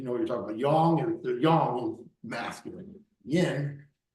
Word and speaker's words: yang: sound like you know what you're talking about Yong the yangong is masculine Yin Yin yiny now